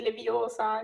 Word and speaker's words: Leviosa: Ci puoi fare anche quella che hanno chiesto di Leviosa. Come no? La facciamo tutta intera, come prima, sì, allora. Sì. Fermo, così caverai l'occhio a qualcuno. Per di più sbagli pronuncia. È Leviosa, non Leviosa.